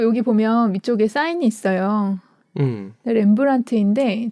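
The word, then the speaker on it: Rembrandt: 보면 위쪽에 사인이 있어요 렘브란트인데 저걸 잘 보면 팁 끝에 티 앞에 d가 있거든요네 근데 렘브란트를 그냥 원래 쓰면 저 뒤가 없대요 근데 저거를 자기가 자기 사인할 때만 저 묵음인 딜을 집어넣었다고 하더라고요 그리고 렘브란트는이 사람의 원래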